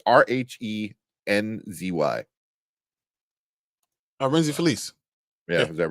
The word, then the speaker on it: Rhenzy: I don't know how to pronounce his first name. Renzi. It's Rhenzy.